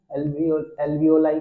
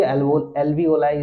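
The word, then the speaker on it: alveoli: और CO2 उनमें ज्यादा होता है तो क्या होता है, CO2 वो दे देती है एल्वियोलाई को, ठीक है, जिसको एल्वियोली एल्वियोलाई इज the right pronunciation, okay, I am sorry, ठीक है।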